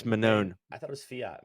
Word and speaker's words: Manon: it manone fi yeah I keep want to say mannon it's manone I thought it was